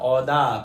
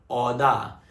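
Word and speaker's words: Aouda: नाम हो सकता है, ध्यान से नाम सुनना, औदा। प्रोनाउंसिएशन कैसा है? औदा।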